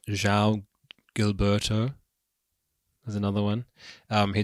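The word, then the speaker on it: João Gilberto: um Sue George and um so how to pronounce his name Zhao Gilberto there's another one um he did an album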